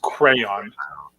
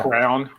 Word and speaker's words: crayon: That's crayon. How's the other way to say that? Yeah, Crown. People say crown. I've never heard that before. No, we never heard people say crown. I said crown, and then somebody like corrected me as a kid, and made fun of me, and I was like, okay, I guess it's crayon.